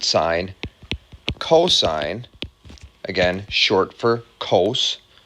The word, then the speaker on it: sine: the mathematical terms are sine it's spelled like that but it's sin on your calculator but we pronounce it sine cosine again short for